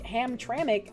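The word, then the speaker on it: Hamtramck: But since Michigan keeps showing up in the news with more and more horrible going on, Hamran is usually pronounced with an I like Ham Tramik, like icky.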